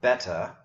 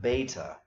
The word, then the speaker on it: beta: So alpha, beta, and that's because in Greek the letter name beta is spelled with the long E that we're about to come to. So it's not beta, but beta. Then gamma.